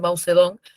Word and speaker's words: Mao Zedong: Por Mao Zedong, que ahora se pronuncia Mao Zedong, y financiada por la Unión Soviética y hoy abiertamente comunista, ¿no?